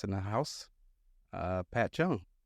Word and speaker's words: Cheung: Uh, Pat Chung, how you doing? All right. Did I pronounce that right, Chung?